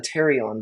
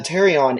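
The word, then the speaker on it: pterion: part is right here it's called the Tarion but it's spelled weird p-t-e-r-i-o-n um it's called the Tarion and it's very very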